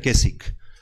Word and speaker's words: Keswick: No sé si yo no hablo, se pronuncia Keswick. Pero si ustedes quieren investigar toda esta idea que nos ha penetrado todas las iglesias, se llama con K, Keswick, termina en CK, Keswick Theology.